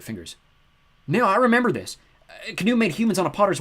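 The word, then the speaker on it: Khnum: That'd be pronounced Knum, I suppose. Rhymes with kaboom.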